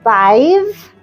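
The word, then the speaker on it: Badb: So it's B A DB B which is pronounced Bive.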